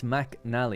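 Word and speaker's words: MacNally: It got my name wrong cuz my name is awkward. It's Mac Nal.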